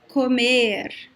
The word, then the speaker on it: comer: accent, but usually verbs, these verbs that have the letter O in the second to last syllable, they are usually closed, like comer.